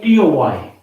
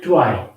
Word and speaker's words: toy: boy choice and toy generally when we have a word like t-o-y in haryana people have the tendency to pronounce it like try but it's not why it's toy or boy or choice now these are the